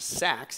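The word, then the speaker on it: Seax: uh but he believe it's pronounced sax even though it's like sea axe cx wicca and basically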